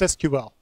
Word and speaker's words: SQL: the exact same way SQL is what they call an initialism not an acronym not an acronym it's not pronounceable so it's SQL just say now the